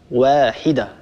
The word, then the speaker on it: واحدة: فقط انتبه لحرف الواو لا تفخمه، لما تقولش إن هذه أمتكم أمة واحدة. أيضا أختي بنت ليبيا انتبه لهذا الأمر، الصواب واحدة، هكذا نطقنا لحرف الواو، هذا هو النطق الصحيح، ننتبه لهذا.